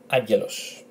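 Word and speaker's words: άγγελος: So agelos, agelos. It's like saying agar and los. That they are agelos, agelos, which is an angel. And as you can see, angel without the OS, agelos.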